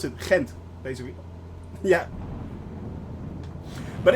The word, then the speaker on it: Ghent: And yes, it is how you pronounce it. Ghent, basically.